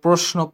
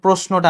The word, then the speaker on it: প্রশ্ন: হচ্ছে পক্ষ প্রণীত পদ্ব প্রশ্ন প্রশ্নটা আসে কারণ আমরা মুখে বলি প্রশ্ন কিন্তু উচ্চারণ একচুয়ালি উচ্চারণ হচ্ছে প্রশ্ন ঠিক আছে এস এর মত উচ্চারণ হবে এই জিনিসটা লাগবে প্রায়শ্চিত